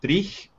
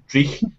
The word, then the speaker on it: dreich: I remember walking through New York trying to explain to Joe like how to say the word dreich. And dreich is like a word that you use in Glasgow to describe really bad, terrible, depressing weather.